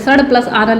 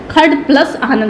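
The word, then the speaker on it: षडानन: मूर्धन्य स बोलते हैं, तो इसको कुछ लोग सड़ भी बोलते हैं, सड़ प्लस आनन। लेकिन इसका शुद्ध प्रोनाउंसिएशन क्या होता है, खड़ प्लस आनन।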